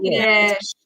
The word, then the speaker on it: Natchitoches: couple years ago when we went to Northwest Natchitoches. Is that how you say it? Natchitoches.